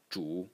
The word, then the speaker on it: 主: So the main person, the ruler of the state, Wang, the semantic element, and Zhu, the phonetic element.